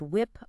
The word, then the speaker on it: WIP: That concept of WIP, pronounced whip, unvalidated work just piling up step after step without those iterative cycles and feedback loops.